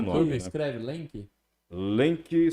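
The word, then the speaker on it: Lemke: Lenk se escreve L-E-L-E-M-K-E.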